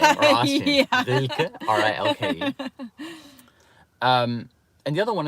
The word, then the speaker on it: Rilke: You have to be German to pronounce that name, or Austrian. Yeah. Rilke, R-I-L-K-E.